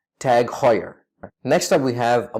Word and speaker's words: TAG Heuer: fan of their watches it's not tag heuer because it's outrageous to pronounce a dutch name in an English manor the correct pronunciation is tag heuer it's tag ta g hot as in h aw here ye are tag higher next time we